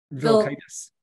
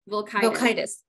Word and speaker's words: Vilkaitis: Vilkaitis. Vilkaitis. And she owns Crystal Media. It rhymed with bronchitis, so you can remember bronchitis.